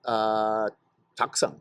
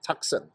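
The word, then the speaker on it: Taktsang: up to Tiger's Nest, which is Taksang. That's how you pronounce it, Taksang.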